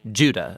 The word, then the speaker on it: Judah: The letter of Jude, or more accurately, Judah, according to the pronunciation of his name, both in Greek and in Hebrew.